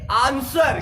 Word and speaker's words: answer: आता है, ANSWER, तो S के बाद में W आता है तो हम लोग इसे बोलेंगे आंसर।